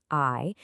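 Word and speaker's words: 愛: So, A is 1 and I is the ninth letter.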